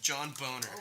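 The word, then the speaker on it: Boehner: John Boner. It's like John Boner or something like that, but it's not spelled like Boner.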